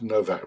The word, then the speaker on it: Nowak: Spelt Nowak, pronounced Novak because his parents are Polish.